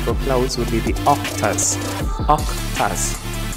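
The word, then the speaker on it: oktas: clouds would be the octas what does that sound like sound like it right yup except that it is spelled with o k t a s in the case that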